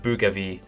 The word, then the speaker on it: Bougainville: take the troops and supplies from Buka and Bougainville over here. Pretty sure that's around how you pronounce it.